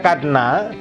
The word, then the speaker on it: cadenas: Ini dibaca cadenas karena kombinasi CA itu berbunyi yang K ya, bukannya S. Oke. Kemudian hati-hati, kombinasi EN itu biasanya berbunyi ong menurut teori de prononciation, tapi tidak dibunyikan karena terpisah oleh penggalan. Cadenas. Sedangkan S di ujung itu tidak dibunyikan. Hanya kita tulis saja.